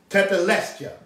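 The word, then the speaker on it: tetelestai: original greek that he said it is pronounced tetelesta t-e-t t-e-t-e-l-e-s-t-a-i scholars let us know how to pronounce it tethelestia it is in the original greek that's what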